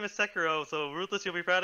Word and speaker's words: Sekiro: Or, again, that's the actual name is Sekiro. So Ruthless, you'll be proud of me. I finally pronounced the samurai game properly.